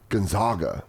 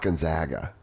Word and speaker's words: Gonzaga: of Spokan is that it's Gonzaga not Gonzaga so if you say Gonzaga yeah they they go it's Gonzaga yeah I might even